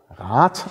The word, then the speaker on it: Rad: Es gibt das Wort Rat, das wird immer Rat ausgesprochen, also immer mit langem A und T hinten, aber unterschiedlich geschrieben. Einmal mit D und einmal mit T.